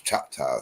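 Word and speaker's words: Chahta: What the English say? Chakau, but it's Chai. Ch H A T Ah.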